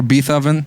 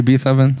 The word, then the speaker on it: Beethoven: i was like wait a minute yeah or beef oven why are they looking at me like did you say beethoven yeah no no no sorry never you're all